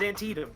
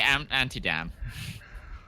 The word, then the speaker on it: Antietam: Like in a recording, you always screw up Antietam. Antietam. Yeah, it's Antietam. Yeah. Yep, Antietam. Okay. Every time though, when I used to say anti-dam. It's not even in the same ballpark.